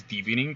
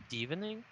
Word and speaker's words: Divining: It's divination, so it's divining. Oh yeah, right. Sensei's diving top.